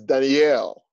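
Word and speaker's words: דניאל: be happening hallelujah now daniel in hebrew is danielle it is spelled d-a-n-i-y-e-l daniel that is a hebrew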